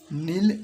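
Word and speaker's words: kneel: घुटने टेकना नील नेल्ट नील नेल्ट नेल्ट इसमें के साइलेंट है इसको पढ़ेंगे नील नील नेल्ट नेल्ट इसको पढ़ेंगे नीट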